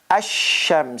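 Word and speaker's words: الشمس: it and the article goes away it becomes asham so this is how you pronounce it but this is the real written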